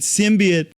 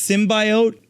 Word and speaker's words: symbiote: need everybody to realize we pronounced it symbiot because he did Dr Kurt Connor and Spider-Man called it a symbi sounds cooler too and now we learn it's symbiote that sounds like ryes